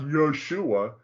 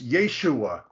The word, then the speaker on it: Yeshua: a name of somebody if you look at the Hebrew it's not Yoshua it's Yeshua right okay you want to